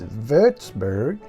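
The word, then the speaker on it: Würzburg: to the 8th century you pronounce wburg in German it's verburg what's wburg famous for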